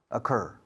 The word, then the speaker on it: occur: It didn't occur, ocurrir en inglés se pronuncia como a pen, a telephone, dangerous, this is dangerous, a microphone, a cup, a book, a table, occur, así se pronuncia, ocurrir.